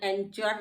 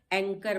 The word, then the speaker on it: anchor: ANCHOR, अब C के बाद H है इसलिए ये साइलेंट है। इसको हमने एंचर नहीं पढ़ा है, एंकर पढ़ा है, नहीं तो एंचर हो जाता, लेकिन C के बाद H है इसलिए हमने इसको एंकर पड़ा।